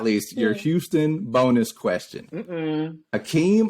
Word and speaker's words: Hakeem: Hakeem.